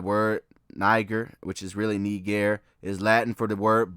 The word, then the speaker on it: Niger: But, like I told you, it's actually not pronounced Niger. Look, this is the actual pronouncer pronunciation. The actual pronunciation of not It's not Niger, it's Nee-gair.